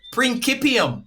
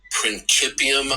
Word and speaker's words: principium: wait a minute prancipium prancipium the technical pronunciation in scholar all these circles which I learned because I mispronounced it was it's principium ascendi which equals the ground of all being.